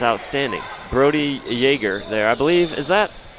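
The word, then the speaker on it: Jaeger: Brody Yeager there, I believe. Is that, would you say that's how you say that, Brother Jack? I would say J-A-E-G-E-R, Yeager? I would say yes, but if we're Otis saying it wrong, Timbuktu.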